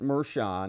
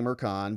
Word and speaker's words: Merchan: judge who is the judge Juan Maran actually pronounced mhan we say Maran because it kind of rhymes with Juan Juan